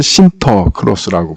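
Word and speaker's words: Sinterklaas: 산타클로스라고 하는 줄 알았더니이 네덜란드 발음으로는 산타클로스는 쉼터 크로스라고 발음을 하는데요 산타로 바뀌었다고 그럽니다 그리고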